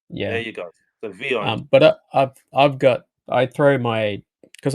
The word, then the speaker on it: Vyond: on, the videos that I create is called Vyond, Vyond. There Vyond. you go. There Yeah. you go. So Vyond.